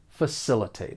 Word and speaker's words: facilitate: facilitate and just keep keep in mind that the C has more of an s that s sound facilitate I hope that you